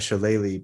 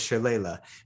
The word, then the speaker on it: shillelagh: like, unless you're going to go like a Shillelagh build. And yes, I pronounced it right.